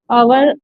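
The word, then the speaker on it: hour: he went there आवर अबो तो इसमें देखो हमने उसमें भी किया था पहले भी कि जब भी आए अ की साउंड आ रही है एच साइलेंट होता है तो क्या करेंगे इसमें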